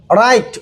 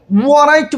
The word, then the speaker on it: write: দেখেন কায়দায় কি পড়ছিলাম, ডাব্লিউ এর পরে যদি আর থাকে তাহলে ডাব্লিউ উচ্চারিত হবে না। এই কারণে দেখেন WRITE রাইট উচ্চারণ হয়েছে কি, RITE এমনিতেই রাইট হয়।